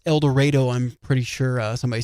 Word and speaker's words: El Dorado: Yeah, a lot of people probably say El Dorado Springs, but it is El Dredo.